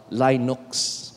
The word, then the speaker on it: Linux: system na sama-sama Saang ngalan so dapat ang pagpronounce an is Linux ba So ano mga Debate Debate ang pagpronounce